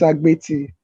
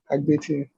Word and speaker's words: Agbeti: Agbeti. Agbeti.